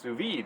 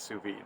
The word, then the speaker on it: sous-vide: souvenir so we're this i found out it's pronounced sous-vide that was pronounced in souve but apparently it's sous-vide so so if i mispronounced it here and